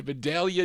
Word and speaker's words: Vidalia: We continue here for this 45 out of, is it Vidalia, Georgia? I said it right, Vidalia, Georgia.